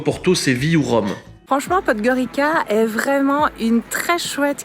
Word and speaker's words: Podgorica: Et voilà, donc c'est une très bonne chose de faite, on est content d'avoir découvert cette jolie ville qu'on prononce Podgorica par ici.